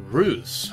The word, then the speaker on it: Reus: welcome back to Zeus ruse somebody told me that it's pronounced like Zeus but with an R so I'm going with